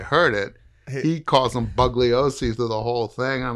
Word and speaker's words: Bugliosi: that they gave the Bugliosi, do you not pronounce the G? No. If you want to get him really pissed off, pronounce it. Well, he's dead now. Right. But when people call him Bugliosi.